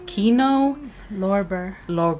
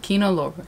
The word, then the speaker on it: Kino Lorber: And so when you watch this film through, I don't know how to say their production, the distributor company, it's Kino Lorber. Kino Lorber.